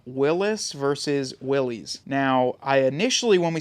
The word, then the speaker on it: Willys: Well, I started calling it Willis, and then people said it's Willys. Willys, like Phillies with a W in front of it.